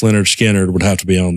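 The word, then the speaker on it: Lynyrd Skynyrd: is up there for me um let's see pronounced Leonard skinnard would have to be on there for me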